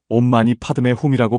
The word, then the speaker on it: 옴마니반메훔: 온마니반매훔은 티베트어로 온마니 파의 훔이라고 발음합니다.